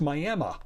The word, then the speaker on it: Miami: county seat of tiny Roberts County Texas is pronounced Miami it would also be fair to pronounce it